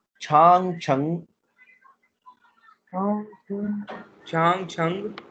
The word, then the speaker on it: Chang: तो पहला कंफर्म होना चाहिए कि इसके अंदर कितने सिलेबल है, 2 सिलेबल है, छांग, एंड the second one इज छंग।